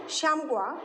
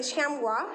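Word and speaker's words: chamois: is close related to shamgua its small groups the pronunciation the spelling and the pronunciation is not same so it is the pronunciation will be shamwa its its small roofs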